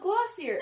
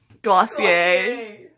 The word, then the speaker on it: Glossier: I love Glossier. Am I saying it wrong? Yes. What is it? Glossier.